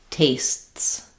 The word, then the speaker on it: tastes: So what's happening with that T and S together S is that basically there's a tiny little stop and then this T is very short and goes right into into the S. Tastes tastes. So it should you should hear a little bit of break in there.